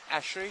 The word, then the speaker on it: Haché: On le prononce Haché.